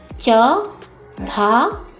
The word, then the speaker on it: चढ़ाई: शब्द गलत है, इसलिए ढ के नीचे हम क्या लगाएंगे बच्चों? बिंदी लगाएंगे। तो इसका सही उच्चारण होगा चढ़ाई, चढ़ाई, चढ़ाई।